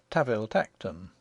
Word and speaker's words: Tanville Tankerton: We are told in an authorial footnote that the Duke's family name, spelt Tanville Tankerton, is to be pronounced Taville Tacton, and one may assume that the name of his country seat follows suit.